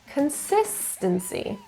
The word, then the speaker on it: consistency: The stress is in the second syllable, consistency.